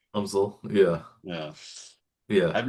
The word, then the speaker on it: UMSL: Not like the University of Missouri St. Louis, but they actually do pronounce it UMSL. UMSL.